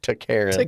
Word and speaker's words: Taran: You pronounce it like toaren.